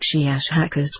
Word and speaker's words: Shiashhakas: of your human letters, something like Shiashhakas with a very, very strong pronunciation of the SH and K sounds.